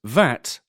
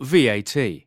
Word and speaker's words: VAT: VAT, Value Added Tax, a kind of tax on goods, pronounced VAT or VAT.